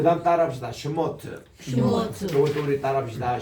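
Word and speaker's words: שמות: 그래서 브레시트라고 읽습니다. 그 다음 따라합시다. 슈모트.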